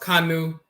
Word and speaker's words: Kanu: And then you have this term, it's actually pronounced Kanu, and the tethered rope can be the T sound or Ch sound, but it can also be the K sound.